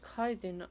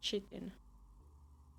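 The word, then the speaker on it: chitin: They produced a certain collection that used kiten among the materials. Apparently, kiten is made in the oxidant where it's extracted from bitter wings. So, it's pronounced kaiden. I've always thought it was pronounced chittin.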